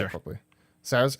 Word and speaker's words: Saoirse: Sarah's. How do you say it? Saoirse.